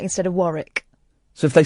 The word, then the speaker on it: Warwick: for example, um so if someone says uh Warwick, you can tell that they're not not English. Hang on. What do you mean? Like instead of Warick.